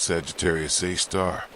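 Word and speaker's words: Sagittarius A*: A super massive black hole called Sagittarius Asterisk. Pronounced Sagittarius A star.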